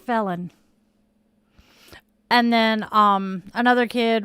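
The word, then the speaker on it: Phelon: And one of the kids' names was spelled P H E L O N. Yes, it was pronounced felon.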